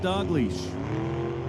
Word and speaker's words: Dalglish: So it's been recommended to me to just pronounce it Dalglish.